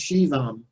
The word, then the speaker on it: Shivam: And Shiva, it's pronounced Shivam. It's as if it was an S-H-I-V-A-M.